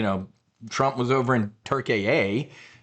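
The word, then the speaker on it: Türkiye: The people are scumbags, you know, Trump was over in Turk-a-a, I guess is how they want us to pronounce it.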